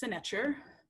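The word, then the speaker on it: sntr: So it's pronounced senecher, written within the transliteration just below the word here.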